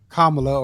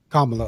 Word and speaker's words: Kamala: So, that eliminated Trump automatically and that eliminated uh Kamla or Camala. Um, if you say her name wrong, she gets upset. Kamala.